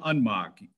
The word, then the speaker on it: Unmacht: Next is Unmacht. If I pronounce that right. You're close. Can you hear me? Yes, can hear you. Go ahead. My name is Unmacht, J-I-M-U-N-M-A-C-H-T.